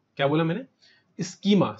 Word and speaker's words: schema: Technical language के अंदर स्कीमा, क्या बोला मैंने? स्कीमा। सर स्कीमा की स्पेलिंग क्या होती है? SCHEMA, इसको बोला जाता है बेटा ई इनवॉइस स्कीमा।